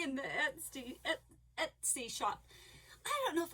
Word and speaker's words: Etsy: So I practiced and practiced and practiced to say it his way. And it's not. I was right. It's Etsy.